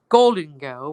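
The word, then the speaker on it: Gholdengo: controversial Pokemon gold daygo I know some people say it's supposed to be pronounced golden go but I what the hell sorry about that that was a mistake um I call it gold day girl because yes now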